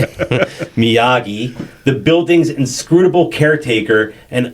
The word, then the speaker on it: Miyagi: Miyagi, the building's inscrutable caretaker and unexpected master martial arts mentor.